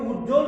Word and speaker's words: উজ্জ্বল: এভাবে উজ্জ্বল শব্দের জয় যোগ জ যোগ ব ফলা, তাহলে এই ব ফলার উচ্চারণ এখানে হবে না।